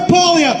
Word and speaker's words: Poilievre: How do I pronounce? Pierre Poilievre, thank you.